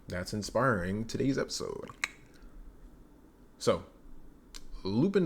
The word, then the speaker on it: Lupin: inspiring today's episode so Loop in the third Loop pwn that's how they pronounce it you know French people